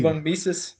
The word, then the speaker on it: von Mises: von Mises.